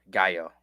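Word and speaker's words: Gallo: Uh pronounced G A L L O. No, spelled Gao.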